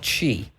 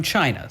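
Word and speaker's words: Qi: folks out right um there's a standard called chi and that's not how you you would spell it because it's it's from china so it's not c-h-e-e it's q-i okay uh and it's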